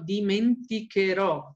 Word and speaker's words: dimenticherò: Dimenticare diventa io dimenticherò, ossia elimino, ossia mi olvidar, no? Elimino las últimas tres y después de esta C, antes de poner ero, pongo una H para poder pronunciar duro.